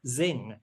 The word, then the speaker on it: Zzzing: They're going to remember Zing. So for those of you who are who don't know of Zing, it's spelled ZZZ or ZZZ.